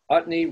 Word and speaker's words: Utne: Utne rhymes with chutney and means far out in Norwegian.